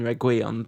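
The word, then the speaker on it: Reguilón: sorry about pronunciation um the only thing I know is that the emphasis should be on the I in reguion because uh that's what uh accents mean in Spanish because I've done I've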